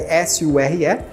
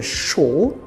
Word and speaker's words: sure: tá também do sure escreve s u r e mas a gente fala sure sure no inglês britânico geralmente é show show né e no inglês americano sure gramar Vamos começar com